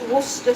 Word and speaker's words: Worcester: In case you can't pronounce it, it's worcester sauce. Oxo cubes. It's not wor. It's wor sauce.